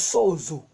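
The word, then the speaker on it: σώζω: Ça veut dire, en grec, ça se prononce sozo.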